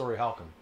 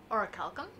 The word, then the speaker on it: Orichalcum: Orichalcum? Orihalcum, yeah. Okay. Or orichalcum, or if you pronounce it in the original Greek, weird.